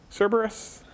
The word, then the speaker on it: Cerberus: Is it Kerberos? Cerberus? But I think it's also Kerberos sometimes. So like our authentication system at the university is Kerberos, right?